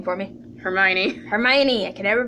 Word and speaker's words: Hermione: Hermione. Hermione. I can never pronounce her name.